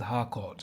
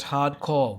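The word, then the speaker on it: Harcourt: supposed love life with Harkort, which Adrienne made up. She even calls Harkort hardcore, which plays into the longunning joke of people mispronouncing her name.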